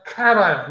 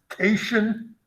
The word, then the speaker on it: cation: you simultaneously make a cation now this word looks like it might be pronounced casion but it's cat ion a cation is positively